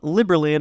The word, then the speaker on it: Liberland: The name Liberland, I think it's easy to remember because it sounds like liberty, so that's how you pronounce it.